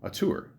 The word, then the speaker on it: auteur: Born November 19th, 1983, is an American actor recognized for his collaborations with Auteur. Is that how you say it? Auteur. No, a tour, isn't it? Yeah, Auteur.